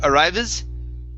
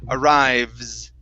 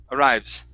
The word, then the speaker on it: arrives: uh right here okay instead of arrives okay so that that e in between the V and the S we're not going to pronounce that it's Ares arrives arrives there you go good